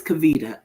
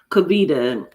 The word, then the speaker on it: Kavita: Your name is Kavita. Okay, cuz I was about to say it's saying my name all wrong. All right. Okay. So it says, Kabita, listen close now because